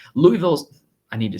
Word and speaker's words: Louisville: got Georgia taking on Louisville or Louisville as the locals will call it Louisville I need to say